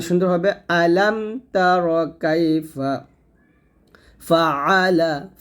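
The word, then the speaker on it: فَعَلَ: হবে আলাম তার কাইফা ফাআলা ফা জবর ফা আইন জবর আলাম জবর লা ফাআলা এখানে একটা আইনে চাপ দিবেন ফাআলা ফাআলা ফাআলা রব্বুকা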